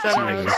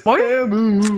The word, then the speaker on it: Temu: I bought it off Temu. So. Hey! It's not Temu. It's Temu. Oh yeah, from the Super Bowl. Bro.